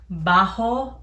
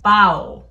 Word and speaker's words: baho: it's called carne bajo it's not bajo like alajo it's bao like i've learned but